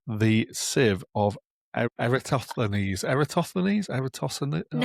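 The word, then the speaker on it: Eratosthenes: Eerostos.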